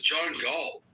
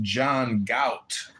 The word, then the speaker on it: John Galt: Who is John Galt? I think you're pronouncing it wrong. It's pronounced John Gout.